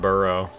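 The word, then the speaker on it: borough: buros how do you how to pronounce burrow burrow it's just burrow burrow bur and become the ultimate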